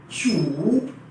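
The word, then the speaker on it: 主: इसकी प्रोनाउंसिएशन है चू चू चू, और इसके मायने हैं होस्ट के, यानी कि मेजबान के, राइट।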